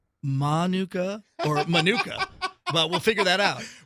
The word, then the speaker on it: Manuka: important ways Kate what is it Monica or manuka sam says manuka I said manuka till I heard you say Monica Monica and that's because if it Thank You Monica's and Modi word please spell it with a mine or macron over the a which makes it a long name Monica I don't have